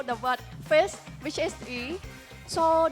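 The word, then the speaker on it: 鱼: word fish, which is yi. So the word fish, it has the same pronunciation as the word surplus, which is another yi as well in Chinese.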